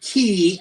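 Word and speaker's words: Cay: And it is called The K. Some people pronounce it key instead of K, because sometimes, man, down on the island, they call it the keys.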